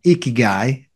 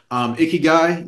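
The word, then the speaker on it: 生きがい: It's a Japanese concept called ikigai. Ikigai, I think is how you pronounce it.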